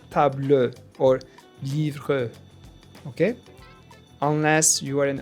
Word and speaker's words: livre: It's also silent at the end of a word. For example, table, table, livre, livre. So we don't say table or livre, okay?